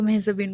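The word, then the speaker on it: মেহজাবীন: Well like সবাই তো মেহজাবিন বলে, তো এটার উচ্চারণটা আসলে একদমই অন্যরকম। ইটস মেহজাবি। মেহজাবি? হ্যাঁ, এন বা ন, আচ্ছা, এটা কিন্তু সাইলেন্ট।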